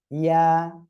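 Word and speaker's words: ياء: এ অক্ষরের নাম হলো ইয়া। ইয়া, এক আলিফ টান হবে।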